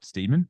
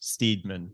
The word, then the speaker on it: Steedman: If not, give him a follow at Jono Steedman, but spelt Steedman. Yeah, it's silly. It's two E's, Steedman.